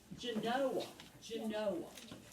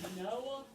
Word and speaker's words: Genoa: It's a city in Wisconsin, and it's pronounced Genoa, in Genoa, Wisconsin. But in Italy, it is pronounced Genoa.